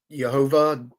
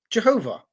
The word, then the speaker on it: Jehovah: And so they thought that the vowel pointing that says Adonai is how you were meant to pronounce the name of God. And so they came up with Jehovah.